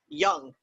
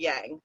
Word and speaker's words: yang: professional of yang or as we appropriately say it young it's not actually yang i always say it